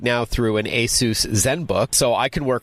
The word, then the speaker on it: ASUS: I know a lot of people have seen the brand ASUS, but they may pronounce it ASUS, but it is pronounced ASUS, correct?